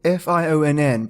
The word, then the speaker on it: Fionn: Fionn, F-I-O-N-N, pronounced Fionn to rhyme with tune, got his first training among women.